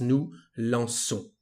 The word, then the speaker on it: nous lançons: Without this cédille, the pronunciation would be nous lançons because of the letter O. So we need this cédille to have the sound S, nous lançons.